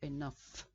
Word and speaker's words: enough: a strange pronunciation because the last two letters gh are actually pronounced as if they were written F so enough if we look at